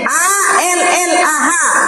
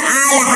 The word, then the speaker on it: Allah: l l a wi a l l a ha apa di sini kan bacanya Allah masa dibaca alah alah Dou lar kau maling